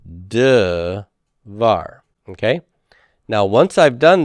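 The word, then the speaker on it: דְּבַר: the open proprotonic syllable it's got to reduce the vocal shaba so it becomes de var okay now once i've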